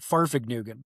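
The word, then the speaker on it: Fahrvergnügen: It's called Farfig Nugan which is the joy of driving is actually how it's pronounced and that actually means a driving journey.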